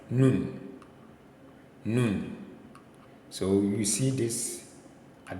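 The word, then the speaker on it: נון: n n so this is n Sound no noon so you see this at the beginning or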